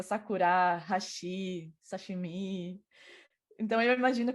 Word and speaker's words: sakura: Normalmente as pessoas falam sakura, mas é sakura, hashi, sashimi.